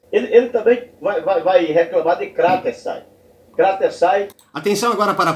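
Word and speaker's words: κρατῆσαι: A palavra é paroxítona. É kratesai. Não é kratesai e não é kratesai.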